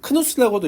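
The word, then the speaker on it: Knuth: 란다우가 죽은 해에 태어난 네, 도널드 너스라고 하는 사람이, 크누스라고도 읽기도 하고 너스라고 읽기도 하는데 너스가 더 정확한 발음입니다.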